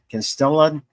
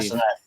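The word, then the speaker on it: Castellaneta: I believe it's pronounced Castaneda. I believe. Castaneda, thank you.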